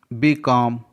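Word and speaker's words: becalm: BECLM, बीकॉम, यहाँ पास भी LM का कॉम्बिनेशन है जिसमें L साइलेंट है।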